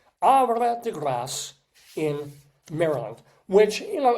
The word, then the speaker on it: Havre de Grace: Ara degass. And we do pronounce the S sound because it's grace like grace. Ara degass in Maryland which you